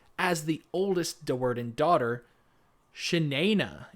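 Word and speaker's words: Shi'nayne: Shanaina is the way that it's pronounced in my audiobook.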